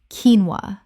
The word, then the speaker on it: quinoa: Repeat, keen-wah, keen-wah. Word 28, bruschetta. Common mispronunciation, brushetta.